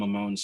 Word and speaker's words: Amon: And ultimately, again, that name is just Hamon with the hey in Hebrew. But in the Sephardic pronunciation, that hey would have remained silent, so it would be pronounced Amon anyway.